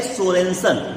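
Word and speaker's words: Sørensen: कहते हैं 1909 में डेनिश वैज्ञानिक SPL सोरेनसन, जो SURENSEN, देखिए वो देखिए स्पेलिंग लिखी है सामने, है ना, तो सोरेनसन, तो वो है, वो स्पेलिंग है, वो सोरेनसन है।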